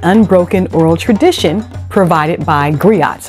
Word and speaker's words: griot: oral tradition provided by griots I'm calling them griots but really I'm sorry I I mispronounced that it's Grio okay um but many